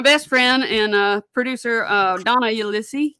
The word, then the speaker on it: Ulisse: And they were both produced by my best friend and producer Donna Ulisse. Ulisse.